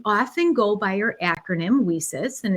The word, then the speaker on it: WiCyS: go by our acronym wheesis and it's spelled w-i-c-y-s we pronounce it we sis like we sisters because that's exactly what